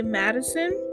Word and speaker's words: MDSN: It's spelled MDSN, but I think you're supposed to say Madison. And if you haven't heard that song, it is just beautiful.